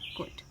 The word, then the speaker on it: could: Easy सी है, that is कुड, COULT, कुड। ठीक है, कुड पढ़ते हैं, इसे एल साइलेंट होता है।